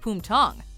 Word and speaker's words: Bumthang: But to those of us who speak English and don't happen to know that it's actually pronounced Bumthang, bums are just funny, so it's hard not to snicker when we hear it.